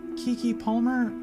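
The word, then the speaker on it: Keke Palmer: work uh then we had i think it's kiki palmer i think that's how you pronounce her name as the oj's sister um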